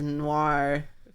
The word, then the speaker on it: noir: Yeah, That's the beauty of noir, film noir, film noir. film noir. Noir. Thank you for pronouncing it how it's intended.